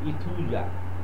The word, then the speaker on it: Aethusa: ইথুজা বানানটা বলে দিই, AETHUSA, ইথুজা।